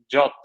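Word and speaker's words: JWT: Then when users authenticate to Cognito, they will get like JOT token.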